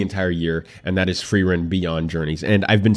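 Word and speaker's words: Frieren: anime of the entire year and that is free run Beyond Journeys and I've been saying friar in this whole time but I've heard people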